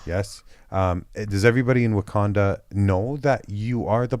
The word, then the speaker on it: Wakanda: saying it right yes it does everybody in Wakanda know that you are the Black Panther as